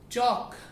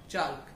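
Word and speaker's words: chalk: एल के जब होता है लास्ट में तो उसमें हमारा एल साइलेंट होता है, that is वॉक नॉट वाल्क, that is टॉक टी एल के not talc, that is चौक सी एच ए एल के नॉट चाल्क.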